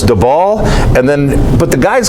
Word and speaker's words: Dybal: how you say your name because I've seen pronunciation where it looks like it's dball and then others where it's dbal and then but the guys call you